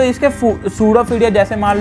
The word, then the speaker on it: pseudopodia: तो गाइस इसमें P silent है, इसको हम प्रोनाउंस करते हैं सूडोफीडिया, ठीक है गाइस।